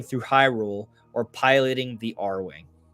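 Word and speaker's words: Arwing: Can you imagine Mario traveling through Hyrule or piloting the R-Wing? He said Air Wing, but it's R-Wing.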